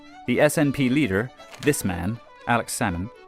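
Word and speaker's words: Alex Salmond: SNP leader this man Alex sammon you don't pronounce the L like with the fish became Scotland's first Minister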